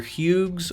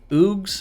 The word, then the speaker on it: Hugues: have the battle mage either huge or oogs i think the h is silent now the battle mage